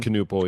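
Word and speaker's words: Knueppel: Uh Cooper Flag's teammate uh Canal, is that how you say his name? Canal.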